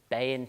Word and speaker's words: Beinn: we've got here is the bay in 20 and that's how you say it it's Gaelic for maintenance police in Scotland